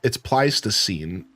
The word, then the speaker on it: Pleistocene: It's Pleistocene, but I just don't know how to pronounce an upside down backwards E. Yeah, Pleistocene.